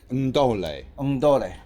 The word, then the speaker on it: Ndole: Ndole. And you have to pronounce the N.